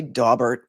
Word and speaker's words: Daubert: have this uh D I call it dbear people say dobert depends on where you went to law school and who your professor was in torts the torts Professor uh